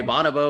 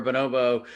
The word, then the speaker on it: bonobo: no it's tomato tomato you could say bonobo or bonobo uh but but i